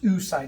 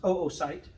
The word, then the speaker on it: oocyte: It's not pronounced oocyte, it's pronounced oocyte.